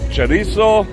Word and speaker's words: chorizo: cover the chorizo oh let me say it properly chorizo with bacon oh my